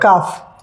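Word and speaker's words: calf: काल्लेल नहीं पढ़ेंगे ना एल साइलेंट हो गया तो क्या पढ़ोगे आप काफ काफ आगे हाफ हम बि हाफ हम और अगर जो आपको ये नहीं पता होता कि एल यहां पे साइलेंट है तो आप क्या पढ़ते काफ और हाल्फ हाल्फ राइट तो ये आपके लिए टॉप सीक्रेट है कि जब भी हम ए एफ के बीच में एल पाते हैं तो एल को प्रोनाउंस नहीं करेंगे एल हमेशा वहां पे साइलेंट होगा जैसे कुछ एग्जांपल्स आपके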